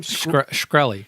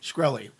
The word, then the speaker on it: Shkreli: Shkreli. Shkreli.